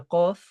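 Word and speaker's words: ق: So now with the letter qaf, it's pronounced from aqsa al-lisan, so the very back of the tongue, raising it slightly and touching the upper soft palate.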